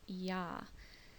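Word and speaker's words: ja: yes in German is yah it's spelled j a but his pronunciation is with a y or a y sound written with a J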